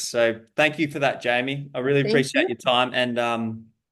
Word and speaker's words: Jamye: It's Jamie, isn't it? It is, Is that how Jamie. you pronounce it, Jamie?